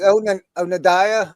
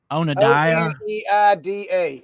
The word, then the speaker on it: Oneida: Is it Oneida? Onadiah? Oneida. And it says USA behind it. It sounds like somebody saying on a diet.